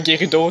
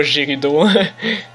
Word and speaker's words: Gerudo: Et oui, moi je prononce ça Gerudo, c'est comme ça, ça a toujours été comme ça, pas Gerudo. Parfait!